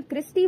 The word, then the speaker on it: cristae: Inner membrane जो है inner lining form करती है, जिसे हम अगेन क्रिस्टी बोलते हैं, विच स्पेलिंग इज द CRISTAE.